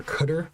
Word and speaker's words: cdr: cdr um as well or cutter i think is how you're supposed to pronounce it someone can correct me